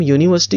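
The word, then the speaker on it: university: साथ हम एन लगाएंगे लेकिन अगर हम यूनिवर्सिटी को देखें तो ये इस तरह से स्टार्ट हो रही है वाई you which is a consonant sound तो इस तरह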